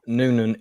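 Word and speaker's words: Nuenen: and it's been recovered from the town of Nunan east of einhoven I'm not sure if I'm pronouncing that right Nunan yes it is yeah yeah okay um which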